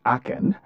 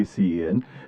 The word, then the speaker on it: ACEN: Now that we understand what Aken stands for and the fact that it is pronounced as Aken and not just necessarily AC, let's look into the significance of this investigure.